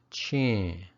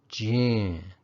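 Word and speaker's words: ချင်း: The next particle I'm going to talk about is pronounced chin or jin, depending on the tone of the preceding syllable.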